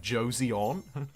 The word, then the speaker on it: Joseon: a foreign word wrong like joseon which is not pronoun you don't pronounce the e i'm told um i